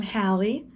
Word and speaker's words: Halle: i forgot to tell you my name i'm hallie a lot of people it's spelled h-a-l-l-e which like first of all i